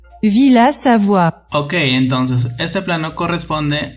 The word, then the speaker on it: Villa Savoye: Lo que vamos a modelar es la Villa Savoye de Le Corbusier, o ¿cómo se dice esto? Villa Savoie. Villa Savoie.